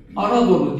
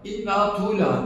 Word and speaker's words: Anadolu: Yani okuduğunuzda Anadolu diye okuyorsunuz. Elif, nun, elif, tı, vav, eee, lam, ye. Anadolu okunur. Ama siz bunu Arap bir Araba okuttuğunuzda inna tula diye okur.